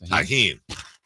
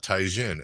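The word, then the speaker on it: Tajín: proper pronunciation of that chis tahen tahen not taen as somebody has been saying for a long time that looks like me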